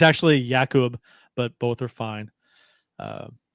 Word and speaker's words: Jakub: talk about uh uh how everyone pronounce his name Jacob or Jacob uh varana uh he says both are fine it's actually yakub but both are fine